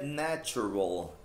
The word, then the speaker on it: natural: Lembrando da pronúncia do L também, natural. É. Que não é natural, tipo Google. Google.